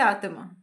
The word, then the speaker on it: आत्मा: और इससे प्रोनाउंस करेंगे आत्मा। यहाँ आधा त है और यहाँ पूरा त है, तो दोनों में डिफरेंस तो है। इसे हम पढ़ते हैं आत्मा और ये है आत्मा।